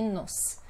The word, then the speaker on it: nos: Tem diferença de pronúncia, nós e nos.